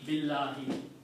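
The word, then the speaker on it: بالله: But by changing Allahu to Allahi, we are making it consistent with the B. B, Allahi, Billahi.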